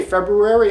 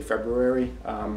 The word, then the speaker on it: February: So when I say February, I pronounce the R that most people don't. Most people say February, and I say February.